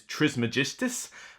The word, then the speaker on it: Trismegistus: dicen Daniel Cassini yeah I'm pretty certain the actual pronunciation is Trismegistus but what is it